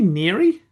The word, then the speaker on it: Neary: Is it Neary? Yep, perfect. Did I get that right?